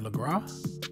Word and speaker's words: LeGras: Let's go down to our next marker, which is right below the word LeGras. The S is silent.